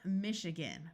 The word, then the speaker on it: Michigan: And here we have the state of Michigan, where again the A has a muffled sound that can sound like either a short U or a short I.